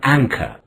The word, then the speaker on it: anchor: Two syllables. Anchor. Listen to it again. Anchor. Ang is a first syllable and it is stressed. Cur is a second syllable. The final R in the word is not pronounced.